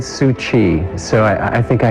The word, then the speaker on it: Tzu Chi: from an English speaking perspective I know that suji can be a mouthful so how did you first pronounce it I've always said sui so I I think I hit it too